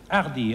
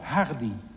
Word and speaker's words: Hardy: On ne prononce pas le H en français. On dit Hardy, hein? Non. Nous autres Hollandais, nous le peuvent très bien. Nous disons Hardy.